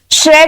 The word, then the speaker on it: श्र: ज और न श्र का उच्चारण जो है से र और ऐ से बना है जिसे हम श और र भी लिख सकते हैं।